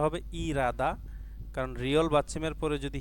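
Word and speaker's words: 일하다: এখানে উচ্চারণটা হবে ইরাদা। কারণ রিয়ল বাসিমের পরে যদি হিয়ত থাকে রিয়লটি হিয়তের জায়গায় গিয়ে উচ্চারিত হয়। তো এখানে ইল হাদা উচ্চারণ না করে আমরা উচ্চারণ করব ইরাদা।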